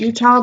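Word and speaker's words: Eutaw: in Utah Alabama and I'm calling it Utah because Wikipedia had the pronunciation and it was you pronounced to look like Utah at spell eut aw so anyway what is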